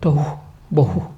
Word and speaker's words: tohu bohu: Tohu bohu, you know? If you soften the first syllable Yeah. Okay, it's like blowing air.